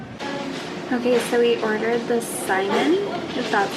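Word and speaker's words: saimin: to think of okay so we ordered the simon just that's how you say it and what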